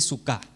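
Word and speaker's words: sukká: nosotros como lo digo se dice suca sí con acento en la a al final se dice Ok una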